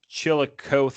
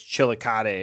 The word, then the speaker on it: Chillicothe: It's not Chillicothe, it's Chillicothe or whatever.